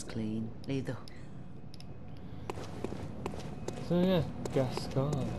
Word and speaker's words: Gascoigne: So yeah, Gascoigne. It's pronounced.